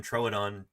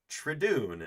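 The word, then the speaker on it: Troodon: She doesn't really have a background in dinosaurs and she uh she pronounces the name Trodon Traon, and I just about fell out of my seat laughing when I first heard this.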